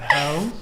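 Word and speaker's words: Haux: Hoe?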